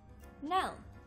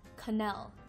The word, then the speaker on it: Knell: of word ideas we'll be pronouncing the word know now often mispronounced as canal with the K now means the sound of